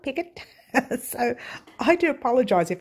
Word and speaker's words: picot: Someone keeps correcting me and saying it's picot, not picot. So I do apologise if I say picot, guys, but it is picot. It's spelt picot, but it's pronounced picot. So there you go.